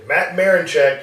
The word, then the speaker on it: Matt Marinchick: Our guest today, Matt Marinchick. I did pronounce that right? That's right, yeah. Matt Marinchick.